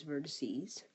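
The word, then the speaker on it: vertices: meet there's three corners three vertexes pronounce Vertes this is a special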